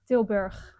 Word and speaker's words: Tilburg: Tilburg. Sure. Tilburg. Tilburg. Yes, it's a with a hard G. Oh, Tilburg.